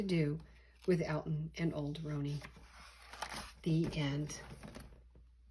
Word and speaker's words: Roney: Roan, the name Roney, pronounced with the long O, may have come from